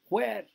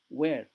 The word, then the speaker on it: where: Before, when we lived in the suburbs, before, দেখো উচ্চারণটা শোনো, before নয়, before, when নয়, when, what, how, when, what, where, when, what, where, এইচটা উচ্চারণ হয় না।